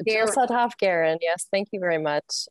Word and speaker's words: Sudhoff-Guerin: Is that how you pronounce? Guerin. It's Jill Sudhoff-Guerin.